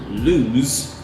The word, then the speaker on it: lose: difference in the pronunciation loose the adjective ends with the sound s loose and lose ends with the sound zum-zum so there's also a